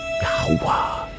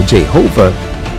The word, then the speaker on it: Yahuwah: The most common pronunciations are Jehovah and Yahweh, both of which are incorrect.